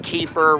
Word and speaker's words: Kiefer: You know, like Kiefer rhymes with Chiefer, and then Sutherland.